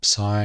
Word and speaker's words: psi: earlier the i or psi is a bit like psychology with p up front i'm just emphasizing that